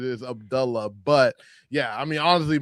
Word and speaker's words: Abdullah: Well, yeah, like for those who don't know, it is the correct pronunciation is Abdullah.